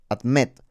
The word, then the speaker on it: admit: Entonces esta palabra admet admet significa admitir la sílaba fuerte está en la i Entonces vamos a duplicar